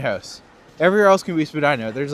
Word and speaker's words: Spadina: Well is that why it's called Spedina House but then at the same time everywhere else calls it Spadina.